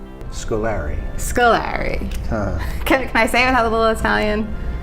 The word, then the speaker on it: Scolari: sort of neighborhood quick pronunciation of Scoleri or school or REM Scolari Scoleri is how most of my relatives my cousins first cousins and aunts and uncles all pronounce it that way so so I adopted that scolari it is I think